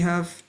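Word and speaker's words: ح: And ha is a throat letter and it comes from the middle of our throat specifically because the throat is divided into three. You have your upper throat, middle throat and the bottom one. So this is the middle throat.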